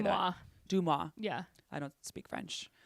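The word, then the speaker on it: DeuxMoi: Duamoy? How do you say that? Dumois.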